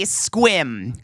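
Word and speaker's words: Sequim: They would say squim. Go look up squim. It's not spelled s q u i m. It looks like sequum, but the way you pronounce it is squim.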